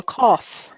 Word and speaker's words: cough: I have a cough. O-U-G-H? Cough. Cough. Okay. Last one is honest. The H is silent.